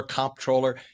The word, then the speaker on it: comptroller: and they say they've heard it pronounced controller, comptroller. Tell us what a controller does. And it's all about the bucks, right? That's absolutely right. And it is comptroller with a P.